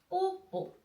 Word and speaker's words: 뽀뽀: We say the baby kiss in Korea, we say 뽀뽀. How can you write that? Yes, we need the O sound again. O sound again. So it will be 뽀, 뽀.